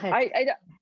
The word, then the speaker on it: Muskurahat: Muskurahat. How do you Muskurahat? Muskurahat.